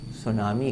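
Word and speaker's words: tsunami: जन्म देती है जिन्हें सुनामी कहते हैं इसमें टी क्या रहता है साइलेंट रहता है इसकी वजह से जनधन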